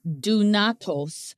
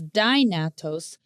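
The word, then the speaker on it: δυνατός: Now, this Greek word possible is dunatos, sometimes pronounced as dynatos.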